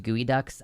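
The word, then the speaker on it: geoduck: Pronounced gooey ducks.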